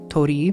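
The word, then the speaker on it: torii: I guess it's pronounced Tori but I don't want to say the Japanese R because I'm afraid it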